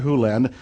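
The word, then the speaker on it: Hew Len: Len, but it's actually Dr. Hulen, if you want to say his name correctly.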